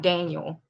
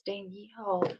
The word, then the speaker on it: Danielle: I've had people like call out my mail call and be like Daniel when I spelled out my name. I'm like, no, it's Danielle.